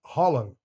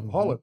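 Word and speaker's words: Haaland: a nacionalidade dele é Holland é com o o neto fala Holland Holland holl você fala você fala quase na garganta o a que vira um hollon assim e o neto fala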